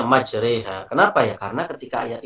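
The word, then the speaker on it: مجريها: Tapi ketika di surat Bismillahirrahmanirrahim wa mursaha majreha, itu nggak bisa kita baca majroha, itu nggak bisa. Tetap harus kita membacanya majreha.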